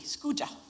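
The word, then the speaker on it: SCUUJA: Now, we call it Scooa to rhyme with Scooba. So, say it after me. Scooja.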